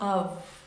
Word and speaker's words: of: Se escreve com F, mas fala of. Of, tá? Não é off, não, tá? Então, ó, of. Lack of. Parece quase um V, né? No final.